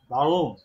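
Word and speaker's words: Warum: একটা স্পেশাল উচ্চারণ আছে আর টাকে আসলে আর এর মত করে ওরা উচ্চারণ করে না আর টাকে উজ্জ্ব রাখে হ্যাঁ ভাগুম হ্যাঁ হ্যাঁ এইজন্য আমি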